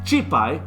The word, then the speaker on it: cîpay: you want us know how to say the word ghost and cree it is that's right chi pai means ghost in crete so everyone can